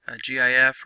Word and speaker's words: GIF: We can save it as a GIF or a GIF, however you want to pronounce that, JPEG, PNG, TIFF.